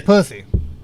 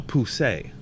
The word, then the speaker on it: Poussey: Her name is Pussy. No, Poussey. Oh, French for pussy. It's like when people say garbage, but it's garbage. Look. I'm from Paris. It was Poussey.